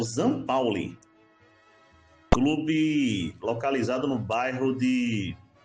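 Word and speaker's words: St. Pauli: Comentando agora, gente, rapidamente aqui sobre Bayern de Munique 5, Zampauli. Pensei que era São Paulo, mas a pronúncia correta é o Zan Pauli, clube localizado no bairro de cidade, né, de Hamburgo, na Alemanha.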